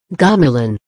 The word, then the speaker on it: gamelan: Gamelan. Gamelan, pronounced gamelan, is the biggest form of traditional music in Indonesia.